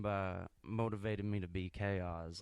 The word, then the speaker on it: Kozz: What are some things that truly mold you to be excuse me, how you pronounce it again? Chaos. Chaos.